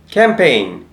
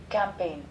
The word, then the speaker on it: campaign: word campaign pronunciation so how it has been pronounced let's listen campaign campaign campaign campaign so friends got it now let's read